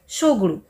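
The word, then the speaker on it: Tshogdu: 2007 से पहले भूटान की संसद का नाम तसोगुड़ू था, शोगुड़ू, इसमें टी साइलेंट रहता है।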